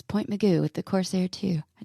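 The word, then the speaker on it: Point Mugu: out in point Meo Point Meo you gotta say it like that too even when you're writing it meoo and that's an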